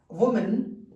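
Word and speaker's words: women: सिर्फ लेटर नहीं बदला, इसका पूरा प्रोनाउंसिएशन ही चेंज हो गया। इट is called वुमेन एंड इट is called वीमन। Okay, वीमन, हालांकि ओ है यहाँ पे, लेकिन अंग्रेजी थोड़ी सी ऐसी ही है, मजेदार है ना।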